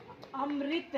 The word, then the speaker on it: अमृत: इसको क्या प्रोनाउंस करोगे इसको अमृत ऋ की आवाज आ रही है ना तो ये ऋ की मात्रा है अमृत कई बच्चे